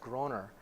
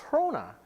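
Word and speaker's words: Groener: to the United States my last name is here in the United States is pronounced Groner there's an e missing from after that o so it's a Dutch name so in in the Netherlands it's pronounced hona and it means Greener but when I get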